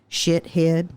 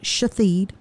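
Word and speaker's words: Shahid: Being in the crime lab and, y'all know how many people, I will just say this, his name, Shithead, but they pronounce it Shatheed.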